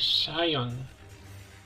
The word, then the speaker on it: Scion: I think a Scion just appeared on our radar. 30 kilometers north-northeast. So this is how you pronounce it, Scion. I know it sounds different.